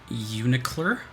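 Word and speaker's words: UNICLR: Under Night in Birth, Executable Late CLR. Or pronounced Unicler.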